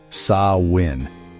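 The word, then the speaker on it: Samhain: The festival that marked the end of the light half and the beginning of the dark was called Samhine, pronounced Sain.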